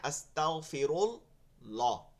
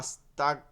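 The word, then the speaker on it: أستغفر الله: আস্তাগফিরুল্লাহ, আস্তাগফিরুল্লাহ, আস্তাগফিরুল্লাহ এখানে একটা শব্দ শোনা চাইতেছে, আমি যেটা বুঝতেছি অনেকে আস্তাক, এখানে কাফ হয়ে যাচ্ছে অনেকের, আস্তাক, এটা কি গয়েন কিন্তু, আস্তাগ, তাগ, তাগ। দেখেন আস্তাগফিরুল্লাহ, দেখেন কথা উচ্চারণের অর্থ কেমনে পাল্টায়।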